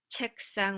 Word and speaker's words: 책상: 책상, 책상, 책상, once again that strengthening of the following consonant happens here.